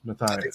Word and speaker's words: Matthias: overcome here uh Megan Mathias Matthias Matthias Matthias that's pronounced yeah sounds sounds good Matthias Matthias and old